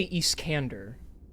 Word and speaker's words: Iskander: I say Iskander.